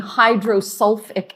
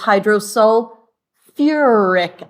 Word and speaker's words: hydrosulfuric acid: it's the or so instead of just being hydrulic acid it's hydrosulfuric acid instead of being hydr fosic acid it's hydros foric acid so you have that extra syllable now again you're going